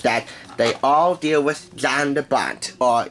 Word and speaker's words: Jan de Bont: they all deal with Jan de Bont, or Jan de Bont, to be more culturally correct. It is a Dutch pronunciation after all.